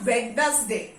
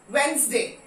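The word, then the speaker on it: Wednesday: इट्स नॉट वेडनेसडे, D silent, वेडनेसडे।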